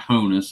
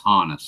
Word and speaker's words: Honus: inning here we go and yes I do pronounce his name correctly it's not homeless it's Honus I know how to say that one Roger